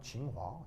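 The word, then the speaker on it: 清华: 청화인데 그 중국 발음으로 하면 징화.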